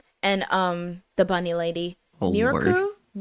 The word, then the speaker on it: Mirko: Oh, Miriko? Mirko, I think is how you say her name. Mirko.